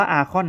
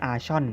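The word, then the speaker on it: Archon: อคอน นะ ไม่ ใช่ ชอน นะ ฮะ อื คำ นี้ ผม แน่ ใจ สุด ๆ เลย นะ ว่า อ่าน ว่า อคอน อ่าน ว่า arc เป็น เสียง คอ ควาย นะ อคอน นะ ฮะ แต่ ตัว ตัว Arcade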